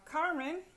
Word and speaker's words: Carmen: Okay, then we have Carmen. You stress it on the next to the last syllable because it ends in an N, and generally you're going